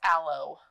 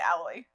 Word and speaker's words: aloe: leaves plant I have to correct you it's aloe alloy aloe what did I what am I saying alloy Al o isn't but people pronounce it alloy I've never heard it pronounced alloy it's not